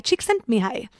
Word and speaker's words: Csikszentmihalyi: hard to pronounce and the spelling is completely different than the pronunciation it's me hi Csikszentmihalyi yep but it doesn't